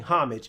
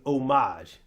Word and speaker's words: homage: It's not paying homage. It's paying homage. The H is silent.